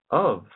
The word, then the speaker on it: of: And there are sometimes where the V sound is interchangeable with F, as in the word of. It's spelled O-F, but you're pronouncing it with a V sound.